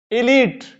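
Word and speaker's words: elite: आ जाएगा ई English E एल आई टी ई इसको क्या पढ़ेंगे इलीट इलीट समाज का जो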